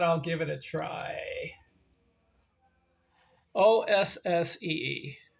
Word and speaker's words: Ossee: So the last guy, oh man, his name's kind of hard to pronounce, but I'll give it a try. Ossee. How do you say it? Ossie.